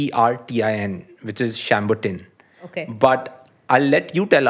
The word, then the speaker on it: Chambertin: it's like Chambertin, which is Chambertin.